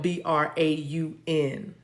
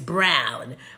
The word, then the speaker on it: Braun: Also, it's spelled B-R-A-U-N. That one. Also the standard or traditional, but B-R-A-U-N is what I'm seeing. I know, and it's not Braun, it's Brown.